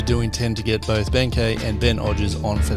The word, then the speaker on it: Benkei: Whereas Benkei or Benkei, however you want to say it, right? Or Benkei is like the Japanese pronunciation of the nickname.